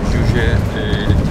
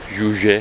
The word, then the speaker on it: Juche: Juche. Juche diye okunuyor değil mi? Juche. Juche. Juche ideolojisi.